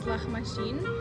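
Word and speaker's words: Lahmajun: So it's basically, technically the original name is Lahmashin. Lahmashin? Yeah, but sometimes it's hard for people to pronounce, so we change it to Lamajun, and it's basically our little like 8-inch pizza, flat inch.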